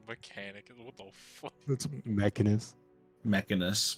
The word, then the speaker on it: Mechanus: That's Mechanus. Mechanus. Mechanicus is better. I'm using Mechanicus. Mechanicus. I'm Mechanicus. There's like an extra canic in there. Mechanicus.